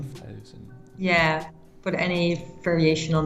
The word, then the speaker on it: Carlien Schafthuizen: It's Carlien Schafthuizen. Schafthuizen. Yeah, but any variation on that is fine. It's a really tough name. And for Germans, it's like Schaffhausen.